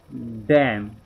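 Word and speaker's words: damn: Letter N, अगरि एम खां पोइ एन हुजे त एन ख़ामोश थी वेंदो। डैम, अटम, कॉलम, हिते ना, हिते एन जेको आहे इहो हिते कोन पढ़णो आहे।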